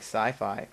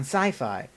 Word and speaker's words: Syfy: public vein of network television is places like sci-fi um and that might even be uh slightly